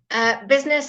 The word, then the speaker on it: business: Business and parliament. Okay, so your silent letter I, business and parliament.